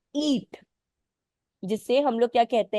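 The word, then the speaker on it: E-E-A-T: एक सर्टेन आप बोल सकते हो, सिंबल सिंबल भी नहीं, एक शॉर्ट फॉर्म पे वर्क करता है, जिसे हम लोग कहते हैं ईट।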